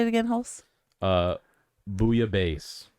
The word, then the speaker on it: bouillabaisse: Booyah base. Booyah base.